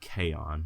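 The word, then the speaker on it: K-On: anime I ever watched was an anime called Kon which is ironic because all anime I like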